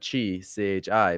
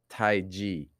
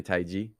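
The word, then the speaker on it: Taiji: second word is not chi chi but it's actually ji PR pronounced g g like the letter G like the letter G so it's Tai G okay can you can you say Tai G Tai G yes okay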